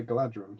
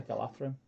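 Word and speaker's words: Galadhrim: Yeah, but you say Galadrim, so. I say Galathrim, actually.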